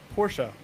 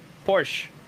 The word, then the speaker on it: Porsche: There's a There's It's not Porsche. No, it's Porsche. Yeah, that that's how we would pronounce it in Russia, but in America, it's Porsche.